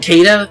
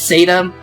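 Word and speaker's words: Caeda: Oh, it's Seda. Okay, so I did get, someone ended up yelling at me saying, it isn't Kada, it's Seda. Honestly, it doesn't really matter.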